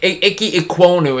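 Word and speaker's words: Ikem Ekwonu: offensive tackle ike minoku from nc state yeah icky ecuano is how you pronounce it oh yeah those those kind of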